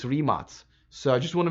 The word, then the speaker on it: Rimac: I've been saying Rimac for a long time, but really people told me it's Rimac.